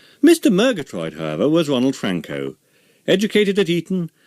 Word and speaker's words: Frankau: The family name was originally Frankenau, and became shortened to Frankau. If anyone mispronounced the AU ending, Ronald would respond with this handy aide-memoire. Frankau's the name, Cow's the wife.